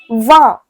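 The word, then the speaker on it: vingt: So 20 is pronounced as va.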